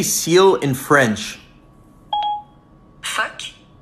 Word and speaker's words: phoque: Phoque. Phoque.